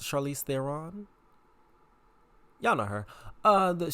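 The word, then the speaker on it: Charlize Theron: me the most was Charlie Theon cuz you see that is how you pronounce Charlie Theon y'all know her uh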